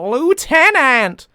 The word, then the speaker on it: lieutenant: anara a dunmer maid julius a lieutenant of the imperial guard or as you americans say a lieutenant um argonian and uh